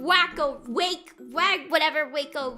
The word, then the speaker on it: Waco: Waco. Wrong. You can't blame me for pronouncing wake. How was I supposed to know that a was going to be ah and not ah a and not a wacko.